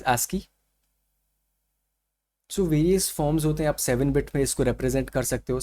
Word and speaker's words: ASCII: code for information Exchange it is uh pronounced as ASCII so various forms to